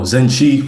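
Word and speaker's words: zinche: That's spelled Zen Chi is spelled Z I N C H E like it sounds and Zen N is spelled like it sound too.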